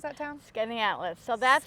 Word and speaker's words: Skaneateles: Because when we were driving through, we drove through, how did you pronounce that town? Skaneateles. So that's it's a village, actually. Okay. Skaneateles, the village of Skaneateles.